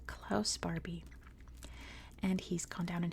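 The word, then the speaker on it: Klaus Barbie: invasion of Leon in English his name is pronounced clouse Barbie and he's gone down in history as the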